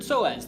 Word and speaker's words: psoas: Even though psoas is spelled with a P, I like the double S.